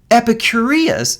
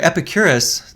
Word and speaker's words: Epicurus: might recognize as sort of psychological therapy right epicureas sorry epicurus the mispronouncing it epicurus and lucretius would say look